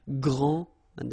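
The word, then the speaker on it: grande: final s okay so gr and then say same thing here and regarding the feminine form you will pronounce it Grand okay don't insist on the final but then pronounce this D Grand and then exactly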